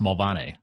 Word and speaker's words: Mulvaney: Mulvaney here in the U.S., if you go to Ireland, it's actually pronounced Mulvaney.